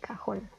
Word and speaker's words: cajón: La primera palabra son 2 sílabas, cajón. Vemos que la sílaba tónica recae en la última sílaba y como termina en N, como lo dice la regla, se debe acentuar. Y queda así, cajón.